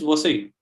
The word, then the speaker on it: Vasai: So it is Vasai, which is called Basing by the Portuguese. So they used to pronounce it as Vasai.